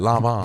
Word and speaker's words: Lanvin: Lanvin, my bad. Lanvin. I think, like, I'm really... You didn't have to say it like that. I did. I had to take a little bass sound like Lanvin.